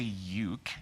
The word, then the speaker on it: uke: You say it ook. No, you would say uke.